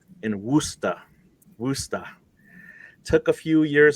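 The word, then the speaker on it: Worcester: that that's right right it's wer W wer yeah yeah so that is yeah that's a it's a cial uh pronunciation not gonna say was not gonna say Worchester for sure um I know my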